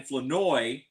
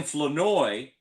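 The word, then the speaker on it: Flournoy: Um he played at North Carolina and uh he he he and the ra the Cowboys wide receiver Ryan Fenoi, don't pronounce the R. Ryan Fenoi um both had over aundred yards at the half.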